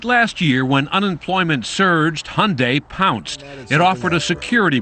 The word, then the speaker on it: Hyundai: during the super bowl it's hyundai like sunday we hear hyundai hyundai even my mom mispronounces it unfortunately she uses hyundai hyundai's cinderella story has